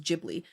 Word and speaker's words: Ghibli: And then um and then I would say Giblly Market after that is pretty good for me. I I really like the or Ghibli, sorry. I think it's pronounced Ghibli.